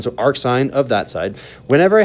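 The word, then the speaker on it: arcsin: So the way that we pronounce this is ar sign of x. So we say ar sign of x.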